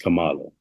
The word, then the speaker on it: Kamala: the name out there it's a Indian name so generally is pronounced Camala y'all know plenty of